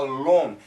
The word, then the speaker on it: long: been it's been a long now in america we say long not long long long so it's a longer sound it's an aw sound long long long long